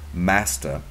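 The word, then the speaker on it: мастер: In the words of a former leader, Master, a Russian word both pronounced and meaning master, but it's spelled M-A-C-T-E-P.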